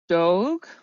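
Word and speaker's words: doogh: have it's I think dog would be how I would pronounce it because it's d-o-o-g-h which is a Persian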